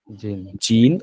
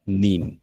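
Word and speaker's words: 人: এটার উচ্চারণ কি হবে এটার উচ্চারণ কিন্তু হিত হবে না এটার উচ্চারণ হবে কি হবে জিন অথবা নিন যেহেতু এখানে আমি বলছি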